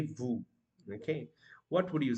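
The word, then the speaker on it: veux: can see the word is VES but the pronunciation is Vu okay and uh there are also some you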